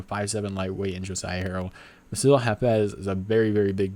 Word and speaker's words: Bassil Hafez: Up the card, we have Jack Della Maddalena versus Bassil Hafez, I think is how you say his name.